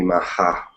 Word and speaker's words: Maha: It's supposed to be Maha, right? Is Yes, that Maha. right? Maha.